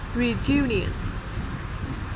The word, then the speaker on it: reunion: Chữ U bình thường mình sẽ nói Jew. Reunion.